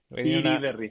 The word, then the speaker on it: Iriberry: El emprendedor le sigue poniendo Federico Iriberry, eh, irriberry o Iriberry. Iriberry, sí, muy difícil de pronunciar.